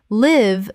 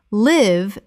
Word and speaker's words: live: Live the verb. Live rhymes with give. Live the adjective, not recorded. Live rhymes with five.